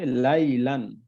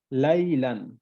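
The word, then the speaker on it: لَيْلًا: তো এটা হলো দুই জবর, তো উচ্চারণ হবে লাইলান, লাইলান।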